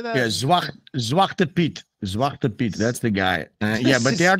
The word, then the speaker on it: Zwarte Piet: Yeah, Zwarte Piet.